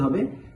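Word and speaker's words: هاء: না, এই হরফটিকে পড়তে হবে ওয়াও, ওয়াও। হামজা, হামজা, হা, হা। এই হা হরফটি উচ্চারণের সময়ও একদম হলকের শুরু হতে হা, হা একটা বাতাস বের হবে, হা।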